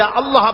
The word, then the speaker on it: আল্লাহ: আল্লাহ আল্লাহ পাকের উচ্চারণটা হচ্ছে আল্লাহ পাকের নাম হচ্ছে আল্লাহ আল্লাহ মুখটা একটু গোল হয়ে যাবে বলেন আল্লাহ আল্লাহ আল্লাহ